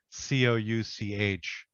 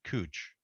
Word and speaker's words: Couch: there's a street spelled c-o-u-c-h which most normal people would pronounce couch but in portland they pronounce it cooch even an english person